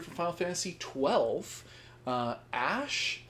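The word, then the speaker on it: Ashe: Uh, Ash. Do you pronounce the E on there? It's just Ash. We're just putting an E on there to be pretentious.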